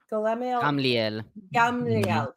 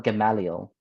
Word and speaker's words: Gamaliel: But I think the Christians call him Gamaliel. Gamaliel, like with an extra A.